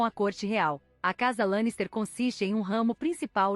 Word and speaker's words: Lannister: De acordo com o guia de pronúncia oficial da série de TV desenvolvido para o elenco e a equipe, Lannister é pronunciado Lannister, rima com Lancaster.